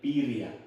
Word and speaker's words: birria: Pronounce it for me very slowly. Quesabirria. Quesabirria. Birria. With an L? No. Birria.